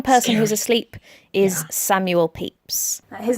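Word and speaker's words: Pepys: is asleep one person who's asleep is Samuel peeps his name is spelled pepis but it's pronounced peeps I promise Samuel peeps was a big wig like literally he had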